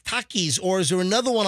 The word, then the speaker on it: Takis: the Latino Community right is it Takis Takis is that how you say it it's t-a-k-i-s that sounds right I've heard that right Takis